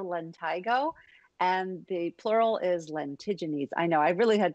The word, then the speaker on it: lentigines: be a solar lentigo and the plural is lentiginese i know i really had to make sure i was pronouncing that right but there you have it